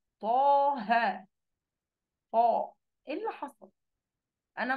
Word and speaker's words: طه: التفخيم وتضخيم الحرف حين النطق به كنطق حرف الطاء في قوله طه. أنا ممكن أقول إيه؟ تاه. في فرق صح؟ كل واحد يجي يقفل المايك عادي زي ما هو ويجرب يقول إيه؟ تاه، لكن طه.